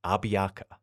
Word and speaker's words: Abiaka: learned about him was abiaka it's often spelled many different ways but I'll be pronouncing it as a b i a k a abiaka also known by his